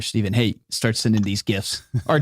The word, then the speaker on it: GIF: So the person who created it pronounces it GIF, Okay. but it stands for graphical interchange format or something. So I've always said GIF. I can't call it GIF.